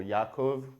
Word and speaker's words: Yaakov: Well, the name Jaki is a nickname for Yaakov, which is the Hebrew way of pronouncing Jacob.